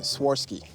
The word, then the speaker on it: Swarovski: Swarovski. Yeah. So there's no T.